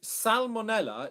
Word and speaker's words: salmonella: With salmonella, you do pronounce the L. Okay. So dark L, because it comes after the A vowel.